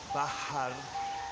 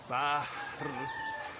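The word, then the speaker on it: بحر: So, marhaban min jazirat Puerto Rico fil bahar al-Caribe, in the Caribbean Sea. Fil bahar al-Caribe. Excuse me, I forgot that. Fil in the. Fil bah. It's bah. Bah. And then Bahr al-Caribe, in the Caribbean Sea.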